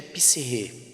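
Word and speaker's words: ψυχή: Mente aqui é psirrê, ou psique, transliterando, mas o correto da pronúncia é psirrê.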